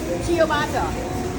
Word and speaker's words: ciabatta: How you pronounce this? Ciabatta. Ciabatta.